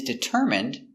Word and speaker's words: determine: He is determined to learn English. Determine. D. I. D. T. Dit. Deter. Determ. Determ. I. Determine. Determine. Determine. Determine. Determine. Stress is on the third syllable.